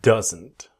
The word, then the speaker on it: doesn't: This video I want to show you doesn't. Let's go. Same basic idea. Does not doesn't. But what happens? The D is silent. It disappears. So we want that strong N. Doesn't doesn't.